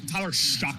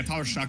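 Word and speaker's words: Tyler Shough: you pronounce his name show Sha uh uh Tyler shuck actually is how you pronounce his name it's not yeah it's not like very intuitive but uh yeah Tyler shuck he I believe this is his third school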